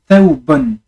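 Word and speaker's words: ثوب: Et donc, ça fait taoubon. Taoubon. Donc, fatha, le son A. Sukun, on prononce le wa, mais à moitié, hein, ça fait thaou.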